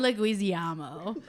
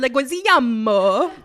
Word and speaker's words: Leguizamo: tesh i believe uh i'm thinking of john leguizillamo that's not the craziest way i've ever heard his name pronounced john leguiziamo so i've said it since